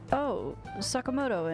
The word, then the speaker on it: Sakamoto: Sakamoto and Takamaki?